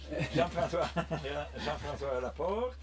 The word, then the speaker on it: Jean-François Laporte: Jean-François Laporte.